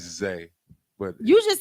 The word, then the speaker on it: Zah: Okay, I respect that, but my name is Zay, but it's just spelled Z-A-H.